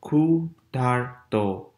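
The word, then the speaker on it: ক্ষুধার্ত: And remember, this is DH, that's not just D, that's D basically, okay? So that's khudharto, khudharto, right?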